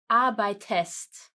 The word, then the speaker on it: arbeitest: But here we have to add an e, arbeitest. It would have not been able to pronounce it clearly without that e.